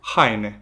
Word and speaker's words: haine: A letra H, pronunciada R. Consegues dar-me um exemplo? Heine, quer dizer roupa.